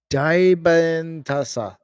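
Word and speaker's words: Dybantsa: It's AJ Dantasa.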